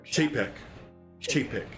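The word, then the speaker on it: Chapek: chap uh chap chat is it chap nick or chapeck yeah i think that's how you pronounce it yeah um i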